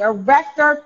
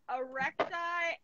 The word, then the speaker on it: arrector pili: It's called the erector pili muscle.